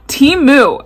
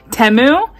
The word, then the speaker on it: Temu: the prices are amazing now team moo I'm for once saying it correctly I actually asked them I said how do you pronounce this because I've been saying temu and I thought I was so right no it's tea no it's yeah I I thought I was saying it right it's called Teemu and